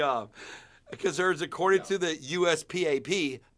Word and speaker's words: USPAP: Concerns according to the USPAP, USPOP, as we call it.